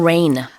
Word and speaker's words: reign: that falls from the sky, but it's pronounced the same way, but it's spelled R E I G N.